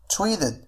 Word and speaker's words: treated: فهنا نفس الشيء لدينا flap t أي أن t سوف تنطق على الشكل d مثل مثلا created. فهنا سوف أقول treated وليس treated. فهنا t تأتي بين two vowels فأقول treated them أيضا